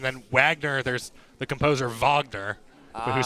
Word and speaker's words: Wagner: wagner there's the composer vogner who spelled it the same way but pronounced it differently so they came up